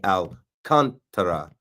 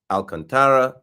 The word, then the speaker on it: Alcantara: shows you like Sandy Alcantara, and the C-A-N is spelled K-O-N, capital letters for the emphasis. Sandy Alcantara, not Contra, not Alcantara, Sandy Alcantara.